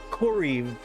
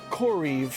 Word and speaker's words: Coriv: Corv Coriv is how you say it.